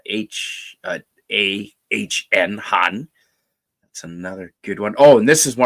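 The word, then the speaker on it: Hahn: That's spelled H-A-H-N, Han.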